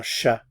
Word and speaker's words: chat: Un chat. Again, notice I'm not pronouncing the consonants at the end of the words here.